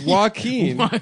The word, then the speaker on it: Joaquin: It's Joaquin.